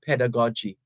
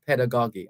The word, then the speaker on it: pedagogy: the greatest form of pedagogy or pedagogy either pronunciation is accepted so I'm going to